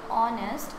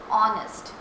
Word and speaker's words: honest: Here we are using an because when we pronounce this word honest, our H is silent and we pronounce it from O, honest.